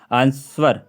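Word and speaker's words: answer: बाद में डब्लू है तो इसलिए डब्लू साइलेंट है इसलिए हम इसको आंसर कहते हैं आंसर आंसर नहीं कहते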